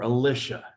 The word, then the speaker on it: Elisha: named um elisha now there are different ways to pronounce his name i grew up saying elisha but other people will say elisha or alicia okay why because there's